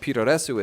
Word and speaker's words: puroresu: And if you're asking what puroresu is, it's Japan's poor attempt at trying to pronounce pro wrestle.